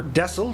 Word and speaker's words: Texel: We're just about to make our approach here into Texel, or Dessel, depending on where you're from in the world. The Dutch, I believe, pronounce it as Dessel.